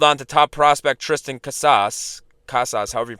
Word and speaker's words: Casas: you could flip KAS how how do you pronounce his name c a s a s kasas kasas for you could flip him for other